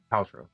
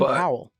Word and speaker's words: Powell: Poutro. Poutro. Poutro. I always feel like I say his name horribly wrong. Um Glen Powell. Pow. Pow. I always want to call him Poutro.